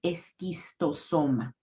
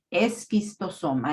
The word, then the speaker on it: esquistosoma: tenemos una ch entonces lo que hacemos Es suprimirla y usar el sonido de la k entonces hablamos de esquistosoma la s no se pronuncia solamente como es sino como es esquistosoma es la pronunciación correcta